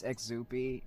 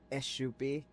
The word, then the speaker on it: Ixupi: You pronounce it as a sh sound.